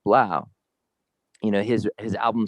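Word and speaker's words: 3LAU: is three lau on the internet but it's pronounced blau you know his his album sold for 13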